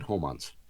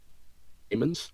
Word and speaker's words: Heyman: With a hard success, yeah, that would be Captain Homans. Haymans? Holmans. Heyman? Heyman. They agree it's Heyman? pronounced Heyman. Captain Heyman. It took them a bit to agree that Heyman is how you pronounce it.